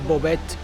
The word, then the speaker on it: Bovec: Travelers, I wanted to show you a little of downtown Bovec, which I made my research, and that's how it's pronounced, but there's a big storm coming, and